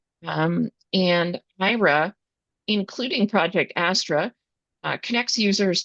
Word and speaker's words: Aira: Next up is the IRA platform. That's spelled AIRA. And IRA, including Project Astra, connects